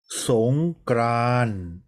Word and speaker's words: สงกรานต์: ค้า ยา โย กัง เขา เรียก ว่า ยอ การันต์ ไม่ อ่าน ออก เสียง สงกรานต์ อ่าน ว่า สง กราน ต่อ ก็ รัน เรียก ว่า ตอน การันต์ ไม่ อ่าน ออก เสียง ขอ พร ใน วัน